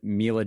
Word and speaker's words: Milla: I mean, before you asked it in this exact fashion, I would have said Milla Jovovich, but I am sure that's wrong.